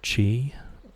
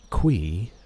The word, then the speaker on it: Qi: Qui makes no sense whatsoever. Spelled Qi. I can see key. I can see chi. I can see chai. I cannot see qui ever being the correct pronunciation.